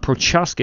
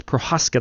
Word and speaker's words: Prochaska: It is not Prochaska, it's Prohaska. The C is silent.